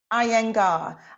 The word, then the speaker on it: Iyengar: How do you pronounce is it Iyengar? Is that how you pronounce it? Iyengar. Iyengar, yeah.